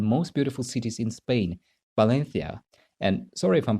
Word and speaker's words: Valencia: of spain they see is so you will pronounce valencia yeah and the first letter it's not v